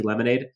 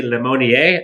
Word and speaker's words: Lemonier: guys jet jake uh i was called jesse lemonade but jesse lemonier i believe is how you pronounce it he looked good he